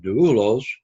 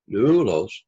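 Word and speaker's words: δοῦλος: Here, the syllable has the circumflex, which means it rises in pitch and comes down, doulos, doulos, kind of like that, only you don't really hear it as we say it very quickly, doulos. So it's 2 syllables, and the accent is on the first syllable.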